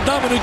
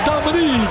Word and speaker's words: Dominic: Dominique. Yes, not Dominic, it's Dominique. An outstanding. That's right. And it's spelled Dominic, pronounced Dominique. That's his zone.